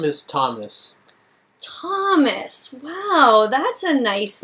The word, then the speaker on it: Thomas: sound shouldn't it be thomas uh i guess not for my name okay actually students that is one of the only words i know where there's a th but where we don't pronounce it all the other ones